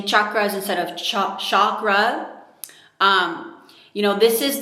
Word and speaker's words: chakra: So, it's important to actually make a conscious effort to pronounce it properly and not just say chakra like it would be an sh.